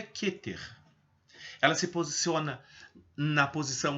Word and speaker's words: Keter: é a esfera keter o que ter a pronúncia correta é keter e não quer como alguns pronunciam em português porque no hebraico não existe essa letra é aberta Então se pronuncia keter ela se posiciona na posição no topo do